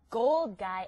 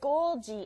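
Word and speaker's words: Golgi: rich in this out not a gold guy apparatus a goldi apparatus what's that well it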